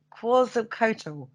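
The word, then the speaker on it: Quetzalcoatl: to the masons now i'm going to call it quasi-coatal that's close i've heard it pronounced like that yeah now this was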